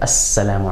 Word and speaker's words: السّلام: What happens is that instead of pronouncing the lam of alif lam, we're going to double sort of strengthen the sound of that sun letter by using shadda, as you can see here, Assalamu alaikum, or Sabah an-Nur.